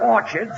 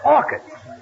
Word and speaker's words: orchids: bought her some Orchards it's not Orchards it's orchids the CH is pronounced by K oh what movie did